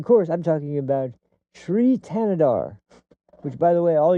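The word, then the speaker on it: Thanedar: to pronounce his name, Sri Tanadar. Tanadar. That's literally how you pronounce it. I've heard it pronounced by him and by other people that are actually in his constituency.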